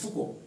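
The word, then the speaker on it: Foucault: katyar and he told me no it is fuku so it is and movement of winds so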